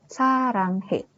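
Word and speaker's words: 사랑해: ada A dan yang di bawah ini dia dibacanya Eng ya kan Sa Rang baru itu ada H dan ini e sarang he nah R yang di tengah-tengah ini kan dia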